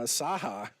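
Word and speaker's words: Cahak: 82 is Grayson uh Saha I think is how you say his name all of it it's not the way that's the way you should see it that's cool but it's spelled uh c-a-h-a-k but one of their coaches gave us the pronunciations okay all right first down and at 10.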